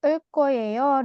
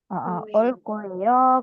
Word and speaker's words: 올 거예요: 자, 그리고 여러분, 올 거예요 di sini dia ada aturan pelafalan di mana gioknya dibaca seperti huruf K. Ya, dibaca seperti 올 거예요, 갈 거예요, seperti itu.